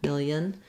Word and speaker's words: million: this way a million million can be helpful not much vowel in that second syllable keep that really reduced a million a million